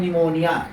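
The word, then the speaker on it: pneumonia: आया हुआ है, S आया हुआ है तो P साइलेंट होता है, P का उच्चारण नहीं करते हैं। जैसे यहाँ लिखा हुआ है निमोनिया, क्या लिखा हुआ है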